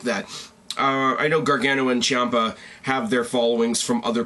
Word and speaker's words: Ciampa: The C-I-A-M-P-A, I'm assuming, is Ciampa, because that's how the announcers say it.